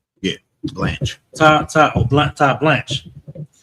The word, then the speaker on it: Blanche: But Deputy Attorney General Todd, how you pronounce his name? Todd Blanche. Excuse me, Blanche, right? Yeah, Blanche.